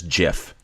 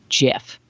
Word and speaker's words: GIF: They track down the chap who came up with this GIF. Keep wanting to call it GIF. I think both are. Well, GIF is actually correct, but everybody pronounces it GIF.